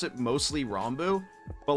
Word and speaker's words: Ranboo: to pronounce my name i am fine with rambu or rambu i pronounce it mostly rambu but like as long as you're not islam